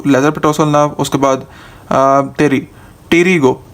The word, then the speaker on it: pterygo: उसके बाद टेरिगो, टी इसमें पी साइलेंट है इसलिए मैंने टेरी लिखा है, टी फॉर टेरिगॉइड किनॉल।